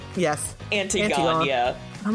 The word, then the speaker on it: Antigone: Antigone? Yes. Antigone, yeah. I'm like, what is this word? I'm like, Antigone. It's Greek, so it's not pronounced how you think it should be.